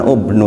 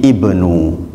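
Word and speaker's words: ابن: Tetapi ternyata dalam Al-Quran ubnu itu nggak dibaca ubnu, tapi ibnu, ya ibnu.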